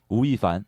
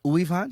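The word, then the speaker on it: 吳亦凡: How do you say it? Wu Yifan. Uifan? Yeah. Uifan. Yeah. Okay.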